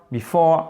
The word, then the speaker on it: before: Before, accent tonique là, ici sur le O, ok?